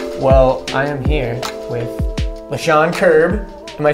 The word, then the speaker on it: Lechon Kirb: Carrie rose and we well I am here with LaShawn kirb am I saying it correctly yeah you nailed it dude here we go and dr.